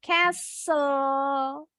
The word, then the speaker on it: castle: Sama juga dengan kata yang ini nih. T-nya juga silent. Castle.